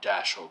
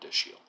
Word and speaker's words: Dashiell: the United States, and that it's pronounced more of the way it looks, not Dashel, but Dashiell.